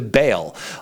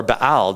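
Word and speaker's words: Baal: is human sacrifices to bail or bile depending how you want to pronounce that so the point is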